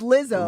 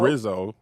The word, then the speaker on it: Rizzo: It's Lizzo. Rizzo. Rizzo. I keep saying it wrong.